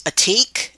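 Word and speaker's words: עתיק: Okay, our next word is atik, is how it's pronounced.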